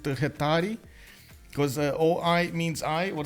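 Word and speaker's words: Hetairoi: I need to pronounce instead of Hetaroi, I need to pronounce it Hetari.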